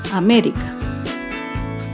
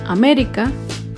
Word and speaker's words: América: otro claro ejemplo es la palabra américa américa se acentúa en la ante penúltima sílaba américa otro ejemplo es la